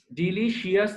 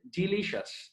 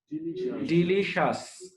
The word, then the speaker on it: delicious: ডিলিশিয়াস না, ডিলিশিয়াস না, উচ্চারণ হচ্ছে ডিলিশাস, ডিলিশাস, উচ্চারণটা কি?